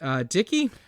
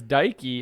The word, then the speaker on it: Dikey: well as their principal, Miss Dickey. No, her name is Dikey, and you can guess what they said.